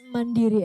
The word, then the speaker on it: Mandiri: it Bank how do you how do you pronounce it it's mandiri actually so I mean I was looking on